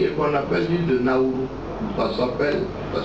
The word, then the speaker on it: Nauru: C'est une île qui est en Océanie et qu'on appelle l'île de Nauru. Ça s'appelle, ça s'écrit N-A-U-R-U.